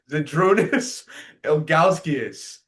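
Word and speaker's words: Žydrūnas Ilgauskas: Zedrunas Elgalskius.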